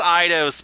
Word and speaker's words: Eidos: I know it's Eidos because in some of their older games, when their logo would pop up, it would actually say Eidos, like it would pronounce it.